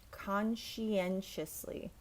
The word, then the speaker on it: conscientiously: right we have conscientiously oh this one is great because the T and the C in this word in the middle not the first one sound like Shh like be quiet conscientiously now we have meticulously